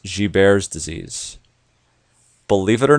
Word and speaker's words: Gilbert's: It looks like Gilbert's, but it's pronounced Gilbert's disease.